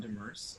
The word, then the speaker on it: Demers: The name pronunciation was perfect. So my name is Demers.